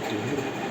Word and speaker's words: tuhr: जानना बहुत ज़रूरी है, जिसे कहते हैं तुहूर, TUHR, जिसे प्रोनाउंस किया जाता है तुहूर के नाम से।